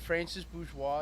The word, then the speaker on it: Francis Bourgeois: guy uh the the francis if is it francis bourgeois is that is that how you say his